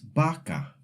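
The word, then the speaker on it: vaca: B and V make the exact same sound. So, when you see the word bino with a V, you actually pronounce it like it has a B. Bo or vaka becomes baka.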